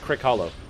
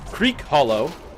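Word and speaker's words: Crickhollow: I play on Crick Hollow, which is not Creek Hollow. It's not Crick. It is literally spelled Crick, by the way.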